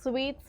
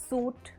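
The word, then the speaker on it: suite: book a सूट room sweets are spacious and luxury S यू आई टी ई इज नॉट सूट इट्स स्वीट for example we booked a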